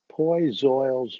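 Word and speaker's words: Poiseuille: internal diameter of the circuit well i've rearranged poi zoyle's law which i finally learned how to pronounce on youtube correctly after all of these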